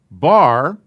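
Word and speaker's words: בר: a patak under it and this is is pronounced bar and it means sun bar mitzvah so and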